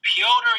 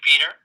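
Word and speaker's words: Petr: anyone who is wondering how to pronounce the pronounce the current interim phantom weight champion's name it is piotr young if you're not going to say pyotr say peter that's fine you can anglicize it it's not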